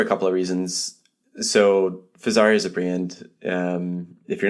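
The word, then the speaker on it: Fezzari: So Fazari is a brand. If you're not familiar with them, they're a direct-to-consumer company out of Utah, obviously Italian name. Obviously rhymes with an Italian sports car, which people like to mention a lot.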